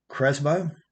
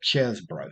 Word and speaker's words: Chesbro: Uh, Here is Jack Cresbo or Chesbro, I guess is how that's pronounced. Yeah, Chesbro. Sorry about that.